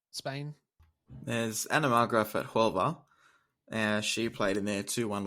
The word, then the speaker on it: Huelva: Huelva. That's what I said. No, you said You Huelva. said Huelva with a H. You don't say There's no H. Whip. Huelva.